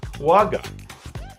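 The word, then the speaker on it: quagga: like that but that's incorrect it's called the quag that ring a bell quag quu a g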